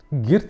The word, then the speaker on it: Geert: Dan ada satu lagi yang sangat bagus dari saya, yaitu dari seorang psikolog yang bernama, ini saya spelling aja, Geert, itu Geert cara baca, Hofstede, dari mana dia menyampaikan sebuah teori tentang penghindaran ketidakpastian, teman-teman.